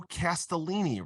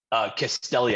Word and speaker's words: Castelli: Mario Castellini, right? Is how you pronounced it, how you said it? Castelli, I think. Castelli. Okay. I had one too many N's in there.